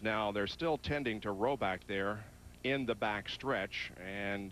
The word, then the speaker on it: Rohrback: And although uh it isn't spelled the way it's pronounced, the R is silent, so it is pronounced Roback.